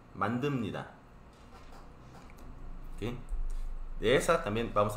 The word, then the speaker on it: 만듭니다: La pronunciación es un poco diferente de a lo que está escrito. Está escrito mantup ni ta. Pero cuando lee, no se pronuncia así, sino así. Mantumnida. Mandumnida.